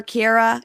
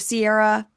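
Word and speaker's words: Ciara: Pronounce Carara. Now, will I remember to call her Kiara instead of Sierra?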